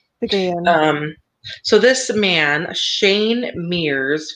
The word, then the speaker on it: Picayune: Is that how you pronounce it? It's Picayune? Picayune. Yeah. Yeah. Picayune.